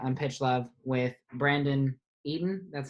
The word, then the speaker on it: Eaton: Hi, I'm joined today on Pitch Love with Brandon Eaton. That's how you pronounce it, right? Brandon Eaton, just Eaton. like the food.